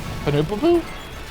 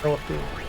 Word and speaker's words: Penelope: Penelope. Panoopapoo. You know that Mom can't say Panoopapoo? Penelope.